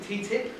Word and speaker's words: TTIP: to talk about ttip ttip is the quick quickest way to pronounce the Acron the acronym the transatlantic